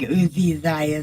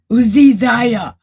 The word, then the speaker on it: Uzziah: I think Uzi Zia sounds better. I know that's not how you say it, but I just I've always said it that way. Okay. How' you say it? Uzziah.